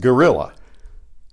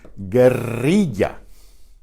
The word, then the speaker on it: guerrilla: You're probably You've probably seen this word in English, pronounced gorilla, like the animal almost. But this is guerrilla.